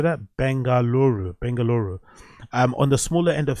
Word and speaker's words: Bengaluru: Bengaluru.